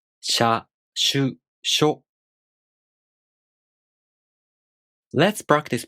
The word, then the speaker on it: しゅ: To pronounce しゅ, the tongue moves from the [ɕ] consonant to the [ɯ] vowel. shu To pronounce しょ, the tongue moves from the [ɕ] consonant to the [o] vowel.